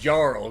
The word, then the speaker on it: Jarl: And this has got to be pronounced Jarl, Grimith. Come on. Jarl. It's clearly his Jarl, if you've ever seen Skyrim.